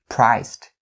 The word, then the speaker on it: priced: So we have st for the ending sounds of the word priced, priced. Don't say priced. Don't say it like that. So priced, priced.